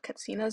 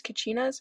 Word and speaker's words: katsina: has a wall of katsinas on display. They are sometimes referred to as kachinas, but as Hopis provided a pronunciation of the name, as the CH sound is not part of their dialect.